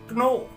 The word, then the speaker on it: know: We never use the sound of K in a word where starting is with K and N. We never say know, we never say knowledge, we never say knee, we never say knife.